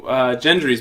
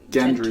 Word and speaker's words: Gendry: Gendry's back. Gentry? Gendry? Gentry. Dent. Gendry. Gendry.